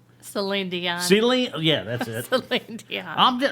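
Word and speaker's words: Céline Dion: voice almost reminds me of uh young's um ceylon how you say her name celine dion silly yeah that's it yeah hey i tell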